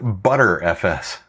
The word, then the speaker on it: Btrfs: Oh, it's commonly pronounced butter FS. I like that, butter FS.